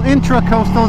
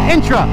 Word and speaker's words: intracoastal: bridge over the intra-intra-inter-coastal intracoastal is how you say it intra not enter metaverse metroverse i want